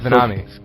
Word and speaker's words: Venami: The winner of the free game of bowling to AMF Bowl is Ashton Ven Venami. Pronounced like Tsunami, right? Yes, Venami.